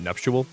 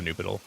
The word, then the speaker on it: nuptial: Well, do you pronounce that nuptial? The nuptial bell? Not the Nupital. I just realized it's not spelled how I pronounced it.